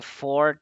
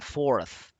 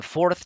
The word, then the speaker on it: fourth: o al menos decí esa pronunciación de for transformation está feita O sea sí se entiende que está diciendo la cuarta transformación por el contexto pero realmente lo que está diciendo es la transformación de Ford o sea como de de la marca de carros no O sea para decir la cuarta es the fourth the fourth transformation esta pronunciación es con la lengua entre los dientes resoplido Life of mexo City